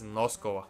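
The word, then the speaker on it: Noskova: per no aaren sorry sorry Nosa not NOS thank you to the person who corrected me in one of my videos who said that I'm pronouncing the name wrong it's nosco I'm sorry Andrea versus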